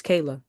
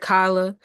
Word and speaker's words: Kayla: My name is Kayla. Associated with puress and a love for freedom. and they act like they can't pronounce it. I've heard Kyla, the simplest name they can't say, won't say.